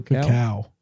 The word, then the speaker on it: cacao: Cacao.